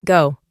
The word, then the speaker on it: go: En el presente es go. Se pronuncia como si tuviera una U imaginaria al final.